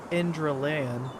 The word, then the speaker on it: Enderal: Oh, you, At least you know the correct pronunciation is Indraan.